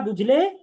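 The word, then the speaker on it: ب: তাহলে এই বা উচ্চারণ হবে দুই ঠোঁটের ভেজা অংশটাকে মিলাইতে হবে।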